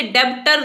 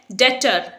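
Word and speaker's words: debtor: अब यहां पर आप इसे डेब्टर नहीं बोलेंगे, ये वर्ड है डेटर। डेटर यानी कर्जदार। अगेन यहां पर बी साइलेंट है तो इसे हम डेटर प्रोनाउंस करेंगे।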